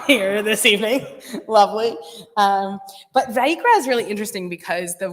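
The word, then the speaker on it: ויקרא: But Vayikra is really interesting because the word Vayikra means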